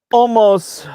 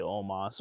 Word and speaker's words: Omos: no it is not no no almost or omas rather it's spelled almost but they say omas omas defeats lashley mvp